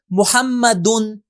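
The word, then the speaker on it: مُحَمَّدٌ: تو دیکھیں ہم کیسے تلفظ کریں گے، محمدن.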